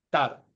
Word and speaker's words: Jatar: dijiste era es libanés esa jota no existe en tú sabes fonéticamente en árabe es tartar pero clásicamente quedó en más fácil Oye pero qué huevón